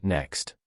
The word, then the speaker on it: NECST: To light the law of affection and illuminate your fast lane road, cross-examine it against the 5 fast lane commandments, NECST, pronounced next.